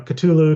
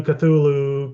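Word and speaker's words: Cthulhu: call culu um and it's variously pronounced you know culu cthulu Kulu there there's you pick pick your poison it really doesn't matter um if you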